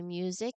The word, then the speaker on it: music: Similar to use when you say music, you'll hear a clear UI sound that um right before the vowel, we say music, not music, but music, just like use.